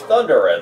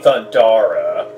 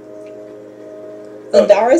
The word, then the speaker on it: Thundara: Well, time to use Thundera then. Excuse me, Thundara. Gotta pronounce it right, otherwise you're gonna have people down my throat. Thundara sounds like an epic area.